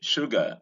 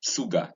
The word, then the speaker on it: sugar: This is sugar. Notice the consonant here, the sh sound, and not s. All right, I heard somebody trying to pronounce it this word saying sugar. That was very ridiculous.